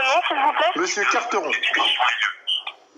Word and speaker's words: Quarteron: Monsieur Carteron. Donc ça s'écrit Carteron, Q-U-A-R-T-E-R-O-N.